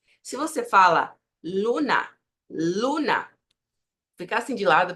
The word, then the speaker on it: luna: Primero, hay que tener en cuenta, se precisa considerar, que a letra L não faz som de U em espanhol. Tendo isso, veja só, você vai manter sempre a mesma pronúncia. Se você fala luna, luna, fica assim de